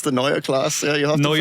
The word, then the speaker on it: Neue Klasse: Neuer class. Please the German in the group. Go ahead. It's the Neuer class. Yeah, you have to pronounce it correctly.